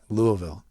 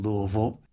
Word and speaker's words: Louisville: How do you say it? Louisville. Yeah, it's like New Orleans. Yeah, you have to sort of be from there. Right. To say it right.